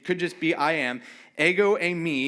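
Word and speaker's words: ἐγώ εἰμι: Ego emi is how you say it.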